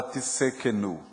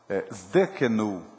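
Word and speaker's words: Tsidkenu: Não existe a palavra Tissekenu. Inexiste. A gente está pronunciando algo que não faz o menor sentido na língua original. Uma letra pode fazer toda a diferença numa palavra com uma língua morta, que é a língua hebraica. Zdekenu e não Tissekenu.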